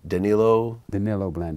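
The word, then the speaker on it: Danilo Blandón: How do you pronounce the name? Blandon. Danilo Blandon.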